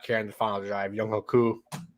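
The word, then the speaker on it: Younghoe: Young Hoku. How do you say his name? Young Hui. Young Wei, yeah. It should be Young Ho, but whatever.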